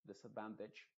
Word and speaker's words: disadvantage: sino que es una una I modificada que es como una e una e nuestra pero esta e Tampoco puede ser des advantage no puede ser una e muy clara tiene que ser una e muy muy oscura que no se note tanto como e pero que se parezca más una i pero que tampoco sea una I Esa es la idea